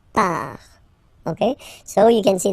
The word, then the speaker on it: part: Final T not pronounced. Il, elle, part.